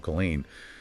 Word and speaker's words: Colline: Now, usually when people talk about Colline, and it's pronounced Colline, for those taking notes, they are just obsessed with the skyline.